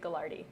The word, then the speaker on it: Gaglardi: Like even like when I'm in Vancouver and I hear someone say like Wavon Street Gallardi. Oh, okay. Yeah. And it's spelled Gaglardi.